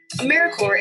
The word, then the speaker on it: AmeriCorps: make that same mistake americorps is alive and well just spelled with a silent p so think of apple core or horrifier now that we have that clear what exactly is americorps anyways americorps is simply